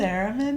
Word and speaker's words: theremin: Theremin, yeah.